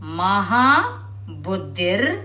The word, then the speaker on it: ಮಹಾಬುದ್ಧಿರ್: ಮಹಾಬಲ ಮಹಾಬುದ್ಧಿರ್ ಮಹಾಸಿರ್ ಮಹಾಯೋಗೇಶ್ವರೇಶ್ವರಿ ಮಹಾಬುದ್ಧಿರ್ ಇಲ್ಲಿ ಮ ಆದ್ಮೇಲೆ ಒಂಬತ್ತು ಹೊತ್ತಿದೆ ಅದನ್ನ ರ ಅಂತ ನಾವು ಬುದ್ಧಿ ಆದ ತಕ್ಷಣ ರ ಉಚ್ಚಾರಣೆ ಮಾಡಬೇಕು ರ ಉಚ್ಚಾರ ಮಾಡಬೇಕು ಮಹಾಬುದ್ಧಿರ್ ಮಹಾಸಿದ್ರ್ ಮಹಾಯೋಗೇಶ್ವರೇಶ್ವರಿ ಮಹಾಭೋಗ